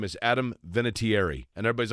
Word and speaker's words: Vinatieri: So, we say Vinatieri, but I've heard a lot of people pronounce it with more enunciation. So if you want to call me Adam Vinatieri, knock yourself out.